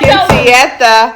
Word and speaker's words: quinceañera: You are on live Quinceañera.